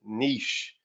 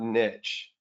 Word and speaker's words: niche: know somebody said adrian it's pronounced niche not niche for those of you that